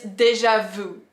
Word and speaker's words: déjà vu: The sixth one is déjà-vu. Déjà-vu. I love this one because so in French we don't pronounce that. We pronounce déjà-vu. We don't say vous.